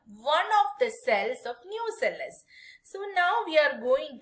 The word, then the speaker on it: nucellus: They will differentiate from one of the cell called nucellus, not nucleus, nucellus. It's spelled it as Nucellus, nucellus.